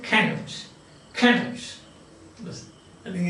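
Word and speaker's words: Cnut: Finally, they ended up Canute, C-N-U-T, not C-A-N-U-T, but C-N-U-T. That is the spelling, and pronounced it Canute.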